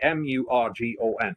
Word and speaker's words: Murgon: Now, I've got to say, Mugon, I would spell it Moogone, but it's actually Murgon, which is more for people out with the marketplace here.